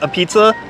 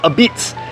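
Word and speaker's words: apizza: when I was a noob, I called this a pizza, but now that I know, it's supposed to be pronounced a Beats.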